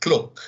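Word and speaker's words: cloque: This would be the word cloak, C-L-O-Q-U-E. It sounds like the word cloak, but is French in origin and is a word for fabric, right?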